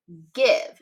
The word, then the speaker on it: give: Now, I see a silent E on the end here, which would make the I say its name, which that's a little bit tricky. And the G is not saying J like it does with I in other words.